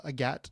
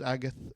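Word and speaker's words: Agathe: I like that it covers, you know, the idea that uh her main character uh Agat, I think you pronounce it. Uh I thought it was Agath. Agath, but I think it's a Gat.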